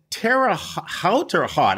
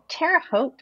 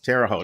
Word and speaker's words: Terre Haute: by the way always is it tara halter hot i always say it wrong terre haute i think terre haute i knew you midwestern